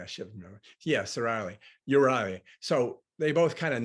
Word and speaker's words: Euryale: Erastus, of, Stheno has Medusa, and I can't pronounce her name again. Which one? Her Stheno sister and Medusa sister. Euryale. Euryale, I should remember. Yes, Euryale.